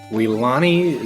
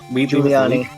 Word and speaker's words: Giuliani: Weelani is... Giuliani. Oh, Giuliani. That's how you Yeah, pronounce it.